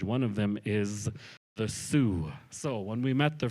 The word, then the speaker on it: Sioux: long time ago so the French couldn't say not away soon they started calling that tribe the Sioux Tribe so that is why if you meet someone who is believed to be from that tribe and you ask them if they are Sue they will tell you